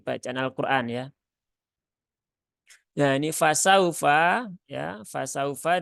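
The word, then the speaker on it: فسوف: al-qur'an ya ya ini fasaufa ya fasaufa di sini ada wau sukun yang didahului harakat fathah ya wau sukun yang didahului harakat fathah maka bacanya dia dilembutkan karena Lin itu sifatnya lembut ya au fasaufauhasabu hisab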